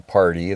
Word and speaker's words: Pardey: We are going to move on now to the interview with Lin and Larry Pardy. That's spelled Pardey.